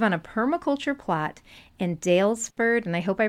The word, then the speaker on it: Daylesford: We set out from our home in Daylesford. You pronounced it absolutely correctly.